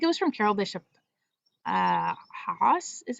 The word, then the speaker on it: Haas: I got the idea, I think it was from Carol Bishop Haas is how you pronounce her name.